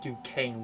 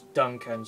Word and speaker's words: Duncan: voiced his suck and I've been saying his name wrong for a very long time I said Duquesne Wis play but it's Duncan sorry a great versatile